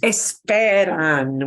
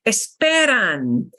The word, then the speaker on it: esperan: Esperan. We second to last syllable, we punch harder. Esperan.